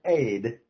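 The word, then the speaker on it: עד: In the Hebrew, it's the word ed, which is pronounced aid, okay, to future generations,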